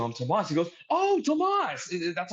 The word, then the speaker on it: Tomas: He goes, oh, Tomas.